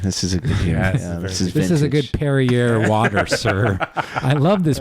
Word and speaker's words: Perrier: It's Perrier, very pretentious, just like you.